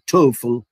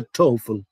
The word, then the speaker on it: TOEFL: Eso significa TOEFL. Se pronuncia como toe. Toe es dedo.